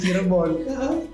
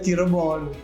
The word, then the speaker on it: Cirebon: Harusnya Cirebon. Saya harusnya Cirebon. Cirebon. Saya bacanya Cirebon.